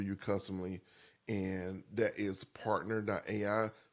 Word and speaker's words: PRNTR.ai: So there's a lot there that we can help build for you customly, and that is partner.ai, which is spelled PRNTR.ai, partner, like shortened without any of the vowels.